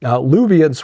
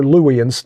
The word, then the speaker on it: Luwians: Luvians were, or Luwians, there's alternate pronunciations. It's L-U-W.